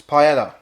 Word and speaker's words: paella: off it's paella in Spanish it's probably know to